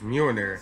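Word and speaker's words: Mjölnir: It's Mjolnir. 65 million years ago, I thought I pronounced Majin.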